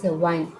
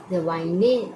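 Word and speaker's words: wine: है डब्लू आई एन क्या पढ़ते वाइन वाने नहीं पढ़ते हैं इंग्लिश के शब्द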